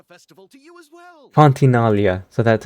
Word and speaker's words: Fontinalia: Fontinalia. So that's how it's pronounced.